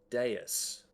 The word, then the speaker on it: dais: In the middle of the room, more stairs rise to form an octagonal dais. I don't know how to pronounce that word. D-A-I-S.